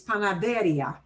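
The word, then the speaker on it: panadería: a tough one um normally we would blend these two sounds together and the stress would be back up here so i'm going to bold if the way i pronounce this word was panaderia panaderia it would not need an accent mark if i said this word panaderia but people would look at me funny if i said panaderia because that's not what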